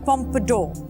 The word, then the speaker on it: pompadour: points is Pompidou Pompidou that is correct it's pronounced pompadour what's the language of origin French the meaning